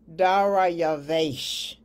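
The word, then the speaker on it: דָּרְיָוֶשׁ: Okay, now the title Darius is correctly pronounced in Hebrew as Dariavash, which is 1867 in Strong's Concordance. If you say that quickly, Dariavash, it does sort of sound like the title Darius.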